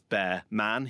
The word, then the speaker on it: Bearman: That brings us on nicely to the Ollie Bearman story. Incidentally, what I learned was how to pronounce Ollie Bearman as Bear Man.